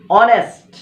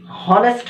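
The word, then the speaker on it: honest: এরকম যে বিষয়গুলো আছে, অনেস্ট, এই বিষয়গুলোর ক্ষেত্রে কিন্তু এন বসবে, কারণ এস এর উচ্চারণটা কিন্তু উজ্জ থাকে। আমরা SUNEST হনেস্ট হওয়ার কথা, কিন্তু এখানে উচ্চারণটা কিন্তু হনেস্ট না, অনেস্ট।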